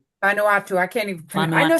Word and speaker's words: Vanuatu: And Vanatau. It's Van Nu A TU. Anuatu. Vanuatu.